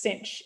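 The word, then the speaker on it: sinh: Pronounce sign as cinch in the community.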